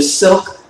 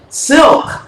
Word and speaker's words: Cylk: Cylk is pronounced Cylk, like elk, kind of like with elk with a C in front of it.